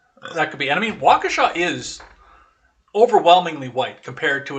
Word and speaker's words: Waukesha: have found was listening to people trying to pronounce the name of Waukesha Waukesha I mean I I didn't know it